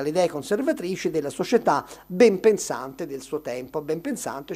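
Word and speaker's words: benpensante: Tra l'altro qui potreste anche far rilevare che ben pensante è una delle poche parole che accetta N prima di P. No, perché dovrebbe dire ben pensante, pronunciamo, invece proprio perché l'etimologia è molto chiara rimane ben pensante, anche se lo scriviamo tutto attaccato.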